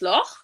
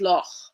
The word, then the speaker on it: Loch: of German, but the one of the most common terms is Loch, and in German it's Loch. In Gaelic it's Loch. The the pronunciation is Okay. slightly different, but it's pretty similar.